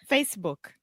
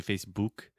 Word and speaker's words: Facebook: so there we go a lot of my students try to say Facebook and they're saying the ooh sound like just like put push so Facebook Facebook excellent